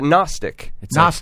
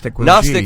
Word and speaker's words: Gnostic: there you ever think you ever hear uh Gnostic Gnostic has a g in front of it why why